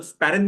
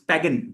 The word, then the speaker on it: sparen: You know sparen meaning saving s p a r e n. The authentic pronunciation is not sparen it is spagen.